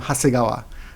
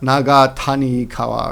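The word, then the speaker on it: 長谷川: The kanjis here are long, valley, and river, but pronounced together for some reason. You pronounce them Hasegawa, not Naga Tani Kawa or something.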